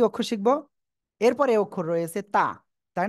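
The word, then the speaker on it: ت: জিব্বার আগা সামনের উপরে 2 দাঁতের গোড়ার সাথে লাগিয়ে উচ্চারণ হবে তা, তা, তা।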